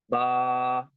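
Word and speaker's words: باء: So ba has to be pronounced from the dry part of the lips.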